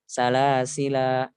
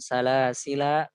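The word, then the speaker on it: سلاسلا: Salasila. Tapi untuk kata salasil sendiri dia boleh juga dihapus alif, dihapus alifnya. Salasil, salasil, salasil, seperti itu.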